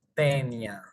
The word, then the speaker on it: Taenia: Familia tenide, género tenia o taenia, que en realidad cuando te juntas una a y una e en latín, que es el idioma del de la taxonomía, se pronuncia como e.